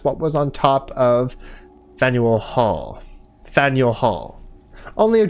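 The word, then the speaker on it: Faneuil: Don't let the French spelling confuse you. The name of this building is pronounced Faniel or Fannel.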